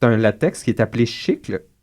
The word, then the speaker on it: chicle: latex qui est appelé chicle c'est écrit comme chicle mais ça se prononce chicl comme des chicles o le nomcinant les